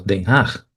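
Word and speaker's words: Den Haag: pronunciado en holandés como Denhaj.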